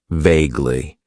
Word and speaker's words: vaguely: Then we have an adverb that I like to use, and that is vaguely. It has 2 syllables, and the stress is on that first syllable.